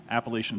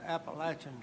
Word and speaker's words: Appalachian: as one who lives in that part of Virginia, I think it's important to point out the preferred pronunciation is Appalachian Trail and not Appalachian Trail.